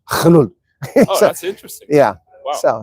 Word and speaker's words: geduld: Well, it's the same thing in Afrikaans, but it's not pronounced Geduld. It's pronounced Gelul.